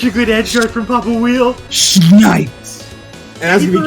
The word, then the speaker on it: Papa Wiele: The Crag's name is pronounced Papa Wiele.